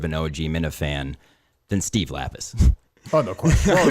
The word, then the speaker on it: Lapis: I think he mispronounced Lapis. I think he said Larpis. I think he did. He got it completely wrong.